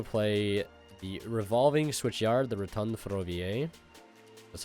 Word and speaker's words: Rotonde Ferroviaire: We're going to play the Revolving Switchyard, the Rotonde Ferroviaire.